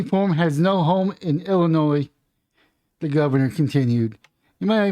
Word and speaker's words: Illinois: think it's Illinois but they uh don't like it when you say Illinois even though that's how it's spelled but it's really Illinois State Police a judge Wednesday